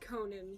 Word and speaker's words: Conan: 17 you're welcome uh his name would be pronounced Conan spell c o n n n con okay